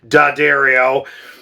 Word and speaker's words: D'Addario: But as the years went by, D'Addario, I always want to say it wrong like we all do, D'Addario, started to come out with these awesome string